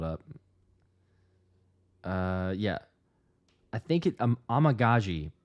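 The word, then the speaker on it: Amegadjie: I think it Amagaji, but for the longest time I was saying Amagadije. Yeah, there's quite a bit. Kieran's okay. I could say Kieran. Amagaji, I believe, is how I could still be mispronouncing.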